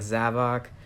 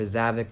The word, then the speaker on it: Zavok: all these villains like zavok or zavic depending on how you say it chaos which is